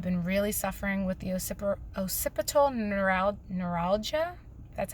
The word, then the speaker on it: occipital neuralgia: pretty bad I've been really suffering with the occipital neuralgia that's how you pronounce it in my neck which causes headaches